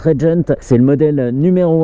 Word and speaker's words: RGNT: Aujourd'hui Alexis me fait l'immense honneur de me mettre à disposition une RGNT, c'est une marque suédoise, ça se prononce Regent.